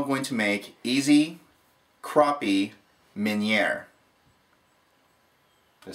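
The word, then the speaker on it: Meunière: we are now going to make easy crappie minere did I say that right Minier yeah Minier Min Min now I'm not saying it right minere okay it's French not easy I thought that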